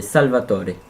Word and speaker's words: Salvatore: Et la deuxième, c'est parce que mon deuxième prénom, c'est Salvatore. Ouais. Comment on prononce en italien? Salvatore.